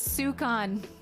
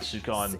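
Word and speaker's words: σῦκον: It's sukon. Ah, sukon. It's sukon. Did you get your chat with a sukon joke?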